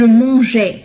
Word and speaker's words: mangeais: بالنسبة لهذا الأ هو فقط كي ألفظ الجي ألفظ الجي pardon ألفظ la lettre G je mangeais, je mangeais, tu mangeais, il mangeait. لأن G مع A تلفظ G.